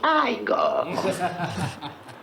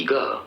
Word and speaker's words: Igor: Non, ça se prononce Igor. Mais on m'a dit que c'était Igor.